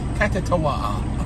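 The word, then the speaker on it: Kuttawa: Oh man, I can't pronounce it to save my life. Let's see. Yes, K-U-T-T-A-W-A. Katawaha.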